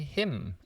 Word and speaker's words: hymn: Another one is him and him. Same pronunciation, but him as in I know him, H-I-M, or when I'm in church, I sing a hymn, H-Y-M-N, right.